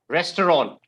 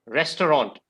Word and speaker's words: restaurant: how you pronounce it it's because of the hindi pronunciation or the regional languages pronunciation that we pronounce it like that but the correct pronunciation